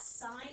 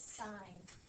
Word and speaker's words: sine: Okay, if I hear someone say sin, that's not how it's pronounced. I will correct you every time. You guys are mathematicians. It's sine.